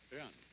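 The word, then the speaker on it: 仁: Although when we Romanize this word in English, we spell it J-E-N, it's pronounced Ren. Sort of like rolling an R, or rather saying R but not rolling it.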